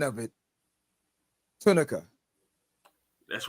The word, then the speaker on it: Tunica: I want to make sure I'm getting the pronunciation of it. Tunica. That's right, Tunica Okay.